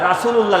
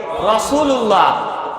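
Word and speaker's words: رسول الله: যেমন বাংলা যেখানে খুলবেন বাংলা বই র উচ্চারণ রা লেখা রয়েছে রাসুলুল্লাহ লেখা রয়েছে কিন্তু হবে কি রাসুলুল্লাহ আমি যখন আরবি পড়বো তখন কি বলবো রসুলুল্লাহ হ্যাঁ তাহলে রও একটা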